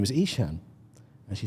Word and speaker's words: Eshaan: helpful I said yeah sure my name is isan and she said sorry I said my name is isan she say how do you spell that I